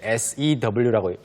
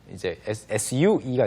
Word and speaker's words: sew: 이거 읽으실 때 SEW라고 해서 sewing skills라고 하시면 안 됩니다. No, sew. 네, Sewing. sew라고 발음하고 sewing 하면은 이제 SUE가 되겠죠. sue. Yeah. You sue Like you people. sue somebody. 예, Yeah.